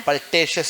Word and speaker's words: pultaceous: Pultaceous or pultaceous, both are correct pronunciation.